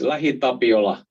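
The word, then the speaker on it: LähiTapiola: saw a case study lahitapiola that's a name of a finnish company you can try to pronounce it there in in your homes but it's la tabiola and that office was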